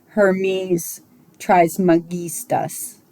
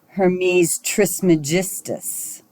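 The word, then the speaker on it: Hermes Trismegistus: the popular pronunciation is Hermes Tris magistus uh but according to Greco Latin pronunciation rules it should be a hard G so I'm sticking with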